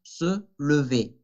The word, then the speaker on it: lever: Dos veces la E francesa, se, recuerden que eso se debe de pronunciar se, le, ahí está la segunda vez. V, con la E que conocemos, porque ERE, se lever.